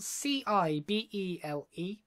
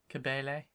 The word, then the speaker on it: Cibele: It's spelled C-I-B-E-L-E.